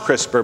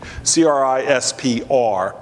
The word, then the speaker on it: CRISPR: It's pronounced CRISPR, but there's no E. CRISPR.